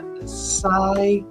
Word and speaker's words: Sakichi: Toyota, and I believe he pronounces his name Saikichi. It's spelled Sakichi, and he developed the 5 Whys, WHY' exercise.